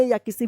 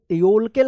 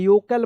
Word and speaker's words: yolk: जैसे यहां पे योक है तो इसका एक मीनिंग बनता है YOLKEL, योलकेल मत पढ़िए, योकल पढ़िएगा, ठीक है ना।